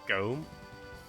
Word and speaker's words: Gotham: It's like near Nottingham, you've got what's sort of spelt as Gotham, but it's pronounced Gome.